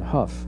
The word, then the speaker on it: Hough: Our People Economically, in HUF, which is rhymes with rough for a good reason.